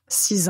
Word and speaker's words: six: consonne finale du nombre ça signifie que vous n'allez pas entendre six ou 6 mais juste si pour 8 on va